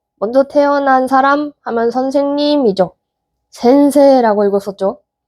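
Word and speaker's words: 先生: 센세라고 읽었었죠.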